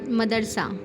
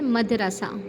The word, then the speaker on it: مدرسہ: مغرب، محمل، مجلس، مدرسہ۔ ہم عام طور پر لوگ بولتے ہیں مدرسہ، تو مدرسہ درست تلفظ نہیں ہے، اصل تلفظ کیا ہے؟ مدرسہ۔ اس کو دیکھتے ہوئے